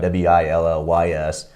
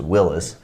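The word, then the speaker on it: Willys: the side of it w-i-l-l-y-s i always thought was willy's but it's pronounced willis my dad had one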